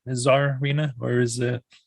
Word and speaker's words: Czarina: i pronounce that right czar reena or is it zarina i i notice that a lot of people tend to really over pronounce the tsar part all good so um